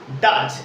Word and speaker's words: does: DOES, ডাজ, এটা উচ্চারণ হবে ডাজ, ওকে।